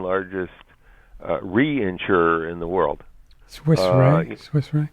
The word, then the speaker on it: Swiss Re: And one of the there's a company called Swiss Re, which is the second largest reinsurer in the world. Swiss Re. Swiss, and then RE. Mm-hmm. I think it's pronounced Swiss Re, and they put out a statement just recently on 5G.